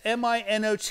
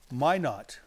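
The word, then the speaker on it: Minot: my not no that's a French word it's m i n o Mino right Mino Mino but they say it's it's pronounced my not all right let's go with it my not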